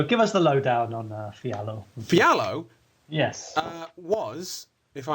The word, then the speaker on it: Fialho: It's Portuguese, so Fialho, something like that.